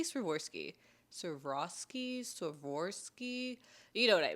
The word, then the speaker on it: Swarovski: How do you say Swarovski?